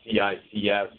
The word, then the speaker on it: CICS: Some of the purists say CICS, it's okay. It's interchangeable, is my take. It's more of a preference, like, oh, don't say kicks, you'll offend someone, or it's spelled the acronym.